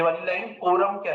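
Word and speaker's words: quorum: उसको क्या बोल कोरम क्यू यू ओ आर यू एम कोरम ऐसे प्रोनाउंस करते है कोरम ठीक है क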